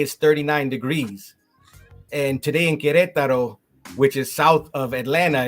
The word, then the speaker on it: Querétaro: is from a town in central Mexico called Querétaro. Am I pronouncing that correctly? Right, it's the it's the um the state of Querétaro, Querétaro.